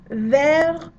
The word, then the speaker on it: vers: So you notice the S in ver, don't pronounce it because we're careful.